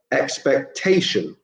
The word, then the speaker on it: expectation: form to associate uh number three is again four syllables but this time it's the third syllable that's stressed so expectation expectation and finally for number